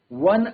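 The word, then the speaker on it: one: आगे हम बात करते हैं ओ pronounced like W इज़ अ कसोनेंट sound and takes a. तो अगर कहीं पर सेंटेंस ओ से स्टार्ट हो रहा होगा। एग्जांपल की बात करें अगर वन आइड मैन। ठीक है? ओ एन ई अगर लेटर देखें अगर हम लेटर तो इनिशियल वोवेल है बट इसका जो साउंड है वो साउंड क्या है डब्ल्यू का आ रहा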